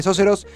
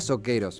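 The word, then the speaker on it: Socceroos: Y es autor de Sóceros, que es, yo le decía Soqueros, me faltaba la pronunciación correcta en inglés.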